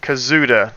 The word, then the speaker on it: Kazuda: Kazuda.